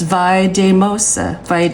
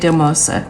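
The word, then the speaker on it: Valldemossa: don't mess this up vosa um it's spelled v a l l d e m o s a but the l l makes the yes sound so oh wait a minute it's vosa vosa yeah so that's how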